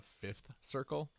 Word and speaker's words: Vth Circle: The Vth Circle. No, it's. I'm sure it's the Fifth Circle, but it's spelled VTH.